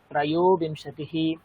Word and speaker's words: त्रयोविंशतिः: বলে দিলাম দ্বাবিংশতিः ত্রয়োবিংশতি এই দেখুন ত্রয়ো তো আপনারা যদি বলেন ত্রয়োবিংশতি তাহলে ওকার দিতে আপনারা ভুলে যাবেন জাস্ট তয়টা ফলা 29 দিয়ে বেরিয়ে যাবেন কিন্তু ভুল বানান তো এটা না ওকারের জন্য আপনার উচ্চারণটা ওকারের মতোই করতে হবে তবে আপনি বানানটা গিয়ে